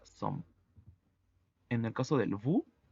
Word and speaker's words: sommes: En el caso de nu, la terminación ES es muda, por lo tanto se pronuncia som.